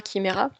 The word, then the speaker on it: Chimera: d'où mon nom, Chimera, à prononcer que et non pas che, hein, comme beaucoup le font.